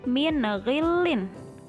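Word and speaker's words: مِنْ غِلٍّ: Kemudian contoh selanjutnya min ghillin. Min ghillin. Jadi dibacanya bukan mil tapi min ya.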